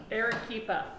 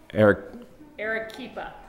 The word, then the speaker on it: Arequipa: Arequipa. Arequipa. Arequipa? Yeah. It's with a Q-U. It's with a Q-U, but spelled pronounced with a K. It sounds with a K. Arequipa is in the southern part of Peru.